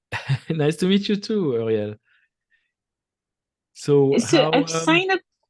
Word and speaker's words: Uriel: It's Uriel. It's like a French name, but it's fine.